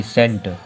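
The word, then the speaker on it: scent: जब सी को नहीं पढ़ेंगे तो इसको ऊपर क्या पढ़ेंगे, यस ई एन टी, सेंट।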